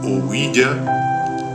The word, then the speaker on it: ouija: ah la uija según la grafía recomendada por la Real Academia Española oa pronunciado ouya es un tablero dotado